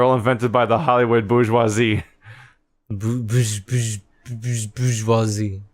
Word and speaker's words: bourgeois: Bourgeois? Wouldn't you see it in books and stuff, and it would be like, what's burgoise? Burgoise? Because that's how it's spelled, is like burgoise.